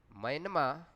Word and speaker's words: म्यांमा: इसका आधुनिक बर्मी नाम म्यांमा यानी कि म्यांमा है। बर्मी भाषा में र का उच्चारण य किया जाता है, र का उच्चारण य किया जाता है, अतः सही उच्चारण म्यांमा है।